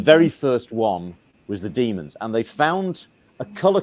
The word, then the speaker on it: Daemons: 83 barryl says a note at the bottom pronounce demons DW m o NS because people sometimes think it's it might be Damons although John po does pronounce it as Damons